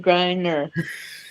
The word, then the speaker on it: Griner: Brittney Griner. Right. Like grinder, but Griner.